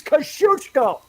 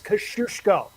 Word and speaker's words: Kosciuszko: For the love of God, it is Kosciuszko! I was giving you the, hey, here's how you should pronounce it if you're not Australian.